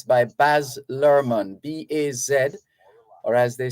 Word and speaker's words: Baz Luhrmann: Baz Luhrmann, wear sunscreen.